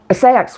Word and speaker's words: Seax: Oh, yeah, the third link is to a seax witch, or it's actually pronounced sex witch, called Raymond Buckland.